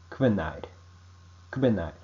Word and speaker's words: hvenær: Only when H and V are consecutive, the K pronunciation becomes Q. For example, quat, which means what. Hver, which means who. Hvenær, which means when. Next, yao.